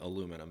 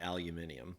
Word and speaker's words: aluminum: And I'm trying to get out of that habit because I actually do like the solder pronunciation. Although I still insist on saying aluminum and not aluminium.